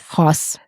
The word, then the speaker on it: Haus: It's Honey House Vintage, and that's HONEY House, which is spelled HAUS. House.